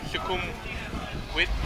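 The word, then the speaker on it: Sukhumvit: No, nah, it's like a, it's more pronounced with a W. So it's like Shukum Wit.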